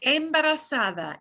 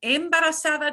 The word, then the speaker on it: embarazada: What's the pronunciation? Okay. Embarazada. Embarazada does not mean embarrassed.